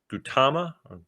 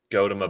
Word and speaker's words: Gautama: Buddhism was founded by Gautama Buddha. Gautama Buddha. So not Gautama. Gautama. Well, Gautama, Siddhartha Gautama.